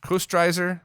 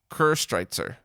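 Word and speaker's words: Köstritzer: to double check um also co-striker is um coasterizer i keep saying it wrong it's one of my favorite dark beers my german father-in-law always has a case in his pantry it's pronounced almost like ker streitzer oh see pronunciation right there i really like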